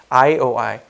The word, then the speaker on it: IOI: 이걸 읽을 때 LOL이라고 읽으면 안 돼요. 웃는 게 아니에요. LOL이 아니라 IOI.